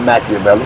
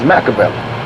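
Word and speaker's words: Makaveli: my name is not machiavelli my name is macavell i took it right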